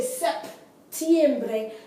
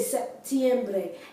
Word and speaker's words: septiembre: The P in Spanish is silent. So you don't say septiembre, you say septiembre.